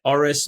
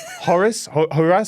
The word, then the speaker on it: Horace: Not mean to pick on your pronunciation too much, but you said Horace, whatever, in the manner of someone from east of London dropping his H's. It was just Horace.